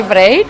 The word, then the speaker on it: Vreid: So I pronounce it correct if I say VREID? VREID is correctly, yeah.